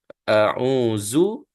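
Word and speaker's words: أَعُوذُ: ya Qul auu ya Zu adalah huruf d yang nipis berbeza dengan Za ya kalau kita sebut auzu dengan dua gigi kita atas bawah tu rapat itu tidak tepat ya bacaan tu seolah-olah ada Za huruf Za di situ tapi huruf ini adalah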